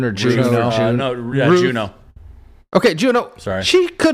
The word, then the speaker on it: Juno: Is it June or Juno? Juno.